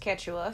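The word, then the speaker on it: Quechua: It's it's pronounced Ketwa.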